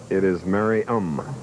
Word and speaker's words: Merriam: For years, I've been pronouncing their hometown differently from what it's really pronounced. Merriam, Kansas? It is Merriam.